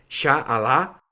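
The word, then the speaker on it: إن شاء الله: En ese idioma se pronunciaría más o menos así: Sha'Allah, que significa si Dios quisiera o si Dios quiere.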